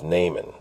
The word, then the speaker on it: Naaman: Well, he's also known as Naaman. It's the English pronunciation.